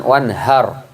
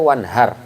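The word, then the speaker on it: وَانْحَرْ: kita sampaikan kemarin hanya harus kecil jangan onehar karena kalau onehar artinya menghardiklah bentak bentaklah itu wanhar Jadi kalau naudzubillah untuk Tuhanmu dan bentaklah Allah maka bacanya harus kecil One Heart fasholli robbika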